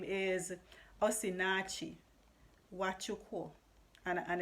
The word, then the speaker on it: Osinachi: i'll tell you her name her name is osinachi and and it's very possible i pronounce the last name incorrectly because the end could be silent but her first name is osinatchi okay so you can look her up but